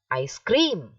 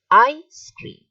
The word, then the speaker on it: ice cream: on the ice cream you do not say i scream that is wrong okay i stream so come on you should keep repeating this after me all right the stress is on the first part i stream look at